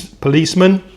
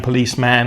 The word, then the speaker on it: policeman: And then we also mentioned police policeman. Notice the pronunciation there. I'm not saying policeman, I'm saying policeman. I'm using that schwa sound, uh, policeman.